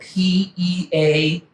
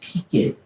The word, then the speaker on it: Peaked: The mountain is spelled P-E-A-K-E-D, but pronounced Peaked. Peaked.